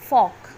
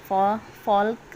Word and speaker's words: folk: जो गर्ल्स होती है बच्चा, पहले तो यहाँ पे FOLK फॉक, इसमें एल साइलेंट है, ये फॉल्क नहीं है, ये फॉक है।